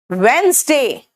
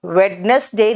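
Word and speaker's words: Wednesday: Monday, ट्यूसडे, वेंसडे, वेडनेसडे नहीं होता, वेंसडे, Thursday, और वहां पे साइलेंट है थर्सडे में, याद रखना।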